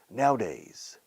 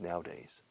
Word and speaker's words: nowadays: no, hoy en día, nowadays, fíjate cómo lo pronuncian para hoy en día es nowadays. Se escribe nowadays, pero la A en medio no se dice ni a o apenas se pronuncia.